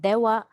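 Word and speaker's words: では: Notice again that ha here for romaji purposes is spelled as ha because if you are going to write again in Japanese sentences, it is spelled using the hiragana ha. However, this is read again as dewa arimasen.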